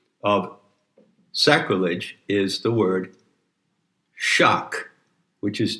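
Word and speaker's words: *sak-: sacrilege is the word shock which is generally spelled s a k but the s is pronounced with an h and shock is a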